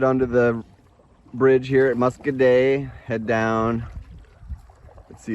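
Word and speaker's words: Muscoda: so here's the bridge in the town of muscaday I think the average person read it on the map they would say moscoda how it's spelled but they pronounce it muscaday here just like we passed a little town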